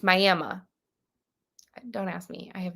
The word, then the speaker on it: Miami: Well, there's also a place here in Oklahoma called so it's spelled the exact same way as Miami, Florida, except here in Oklahoma, it's Miami. That's how you say it. It's Miami.